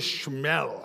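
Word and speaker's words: Shmuel: would just be samuel the name samuel in hebrew is shmel how do you like that shmel and his nickname would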